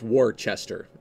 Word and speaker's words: Worcester: worse Esther or you know Worcester Massachusetts it's Worchester but you don't say that you say Worcester